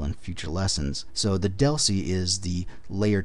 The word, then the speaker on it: DLCI: future lessons so the deli is the layer 2 address that frame really uses it's a 10bit um data link connection identifier dlci pronounced Deli they're locally significant we